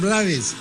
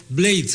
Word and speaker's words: Blades: Maestra Vida de Rubén Blades o Rubén Blades, como usted prefiera. Antes se pronunciaba más Blades. Ahora el propio Rubén está hablando de Blades a medida que su